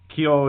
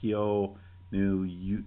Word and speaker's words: kyonyu: Uh and they all have Well, there's Kio. Am I pronouncing that? Ko new. It's K Y O N Y u which translate to big breast.